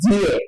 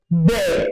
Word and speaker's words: there: So sometimes I actually you know I actually smile when I hear people pronounce this word as dare.